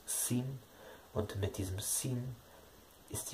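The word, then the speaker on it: שׂ: Dann hat das Shin die Besonderheit, dass es auch eine Variante der Aussprache mit S, also quasi mit Samech gibt. Dann wird zu Hilfe ein Punkt links oben über dem Shin gemacht, anstatt rechts oben. Rechts oben ist das Shin, also die rechtsseitige Aussprache ist das Shin, die linksseitige das Sin.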